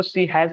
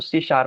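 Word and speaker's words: C#: है about she शार सी शार तो हम लोग इसको सी हैज नहीं पढ़ेंगे इसको सी शार पढ़ेंगे इसका प्रोनाउंस क्या होगा सी शार ठीक है ये क्या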